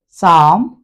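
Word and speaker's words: psalm: के बाद एस हो हम इस पी को साइलेंट कर देंगे साम क्रॉस या कॉस या साइ की तो तीन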